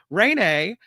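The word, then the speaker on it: Raynae: This woman, her name is Renee, but it's spelled weird. R A Y N Ae. Renee. Renee said she and her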